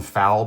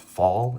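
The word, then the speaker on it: Falle: were made by John fall um I call foul but his last name is pronounced fall and he is a safe expert and a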